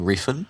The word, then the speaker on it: Refn: I think it's Nicholas Winding Refn. Refn. That's I think right, that's how Refn. you Yeah, pronounce it.